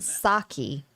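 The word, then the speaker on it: Psaki: her first name jen saki i think it's how you pronounce the p is silent i never would have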